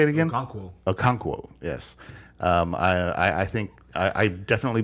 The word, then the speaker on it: Okonkwo: Okonkwo, yes.